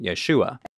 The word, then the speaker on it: Yeshua: close enough for most people to justify the pronunciation Yeshua foreign did become the proper pronunciation of this